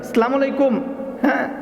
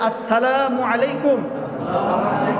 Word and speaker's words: আসসালামু আলাইকুম: সালামু আলাইকুম। আলাইকুম। কেমনে কেমনে কয়? মানুষ নানান ধরনের ভঙ্গি করে সালামের শুদ্ধ উচ্চারণ আমাদের সবার শিখা উচিত আরেকবার আমার সাথে সবাই বলেন আসসালামু আলাইকুম এভাবে আমরা সবাই মানুষদেরকে